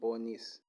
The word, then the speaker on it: Bonis: uh learn with bonis this is how you pronounce my name bonus it's not even useful